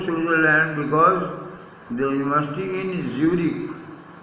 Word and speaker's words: Zurich: This young Serb means Serbian, had come to Switzerland because the university in Zurich, Z है लेकिन pronunciation J होगा, was one of the few in Europe where women could get degrees.